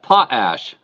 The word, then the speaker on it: Potash: been fighting with it it's a pot ash just like that potash yeah yeah so welcome